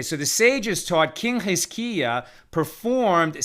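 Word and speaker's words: חזקיה: Right, so Matt, why don't we pronounce it the way it's pronounced in Hebrew, which is Chizkiya. Okay, so the sages taught King Chizkiya performed 6 actions.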